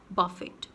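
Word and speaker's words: buffet: Next is बफेट। बफेट और बुफे और बफे, किसी भी तरह से इसको प्रोनाउंस कर सकते हैं हम।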